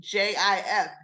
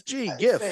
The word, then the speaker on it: GIF: so then I'm like why did you name it gif with a G because it stands for graphic inter interchange format or whatever listen it's a I say that's G GIF yeah because it's a graphic interchange graphic starts with G I don't care what